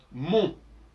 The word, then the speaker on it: mon: par exemple le possessif mon ma mon c'est déjà très élaboré parce que on prononce pas le N de mon et dans le L